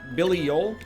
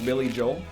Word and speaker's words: Billy Joel: New York groove to Billie old also known as Billy Joel by people who respect him enough to pronounce his name properly I've been mistaken this